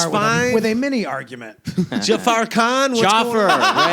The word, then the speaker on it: Jaffer: That's Jaffer. Jaffer. It's 2 syllables.